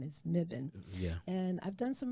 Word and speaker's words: Mebane: In any case, it's spelled differently than it's pronounced because the actual pronunciation is Mibbon.